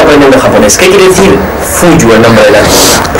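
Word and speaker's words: 冬: El carácter que va juntos es así, y eso significa en japonés, significa invierno, y se pronuncia como Fuyu, y por eso el nombre de la tienda.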